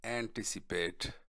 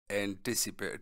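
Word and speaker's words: anticipate: और यह है एंटिसिपेट, एंटिसिपेट टी पे स्ट्रेस है, एंटिसिपेट एंटिसिपेट एंटिसिपेट है,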